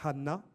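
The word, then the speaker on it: חנה: La grâce, être gracieux en hébreu, c'est Hanna avec un H. Tandis que le verbe répondre, c'est Anna sans H. Donc ça se prononce de la même manière, mais bien sûr, ce n'est pas la même signification.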